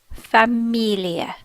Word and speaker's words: Familie: languages be all notice it is spelt differently it ends at an E we remember that the e makes a better than e sound in German so it is manor familia manor Familia first of all we